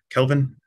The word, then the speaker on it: Kelvin: triage to um the kelvin's point there am I pronouncing your name right Kelvin yes like the degree scale Kelvin k-e-l-v-i-n yeah thank you um